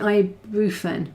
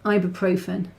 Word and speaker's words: ibuprofen: thick paper I guess I think you pronounced it I rufan no it's ibuprofen but ibuprofen well yeah